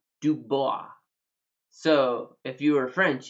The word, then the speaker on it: Dubois: here in wyoming we have a city called dubois so if you were french you'd pronounce it dubois but here in wyoming is